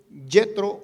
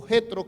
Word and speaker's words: Jetro: Vayan por favor allí al libro de Éxodo capítulo 18, Yetro o Jetro, como usted lo quiera mejor pronunciar o le entienda mejor, viene y visita a su yerno Moisés.